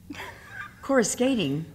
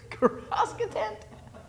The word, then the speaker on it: Coruscant: Coruscating. Coruscating. What is it again? Coruscant. Look at me. It's just 3 syllables, honey.